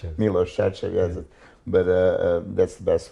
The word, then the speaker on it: Milos Sarcev: mi LLS share CV nobody can really pronounce it it's me low stretch it yes but that's the